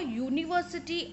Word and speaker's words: university: with the consonant sound so in University though this noun is beginning with a vowel U but it is making the sound of a consonant U it is static now U is y o u so consonant sound is coming of Y so therefore we use